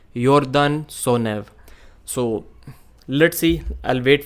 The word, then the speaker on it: Sonev: I pronounced it Yordan Sonev, but it was Yordan Sonev.